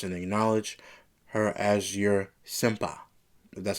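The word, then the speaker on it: senpai: Asuka then says all you had to do was apologize and acknowledge her as your senpa.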